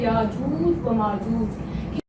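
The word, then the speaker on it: يأجوج ومأجوج: इसकी right pronunciation क्या है? याजूज व माजूज। बच्चे इसको कैसे कह रहे होते हैं? ये गलत है। जो सही प्रोनाउंसिएशन है वो है याजूज व माजूज।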